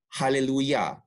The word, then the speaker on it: hallelujah: sound in the word hallelujah it's spelled with a j but it's pronounced with the y of yahweh's name give praise to yahweh